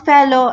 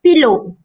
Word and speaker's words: fellow: I don't advise you to use fellow candidates because a few candidates tend to pronounce fellow as pillow, so it is wrongly pronounced.